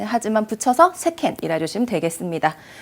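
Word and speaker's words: 世間: 혹시라도 세간이라고 해서 우리 A처럼 세칸 발음 비상과하시면 안 되고요. 네, 세상이나 세간을 세켄 하시면 되겠습니다.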